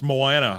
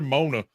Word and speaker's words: Moana: to work at and try to pronounce Moana. I want two tickets to Mona.